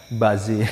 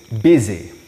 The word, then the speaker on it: busy: Ya, mereka nggak tahu apa yang saya katakan because I said buzzy at the time. Saya ngomongnya buzzy. So it's busy.